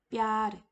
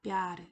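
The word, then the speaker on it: प्यार: 이 뻐와 여를 더할 경우에는 여기 수직선 지우고 남은 부분만 여에다가 갖다 붙이고 뼈라고 읽으시면 되겠지요. 단어를 보시면은 뼈르 자, 사랑이란 뜻입니다. 뼈르 사랑이라는 뜻의 힌디어 단어입니다.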